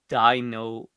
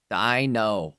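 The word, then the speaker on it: Deino: So based off that pronunciation, Dino is it's it's the pronunciation as in D and then no. Dino.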